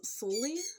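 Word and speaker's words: Sulli: jotted down her name was sully i think is how you pronounce the s-u-l-l-i um she spoke out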